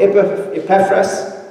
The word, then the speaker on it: Epaphras: it being the gospel, from Epaphras, that's a better pronunciation that Carel gave us, our beloved fellow servant,